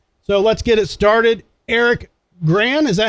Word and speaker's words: Eric Gran: Eric Graham, is that how I'm pronouncing it correctly?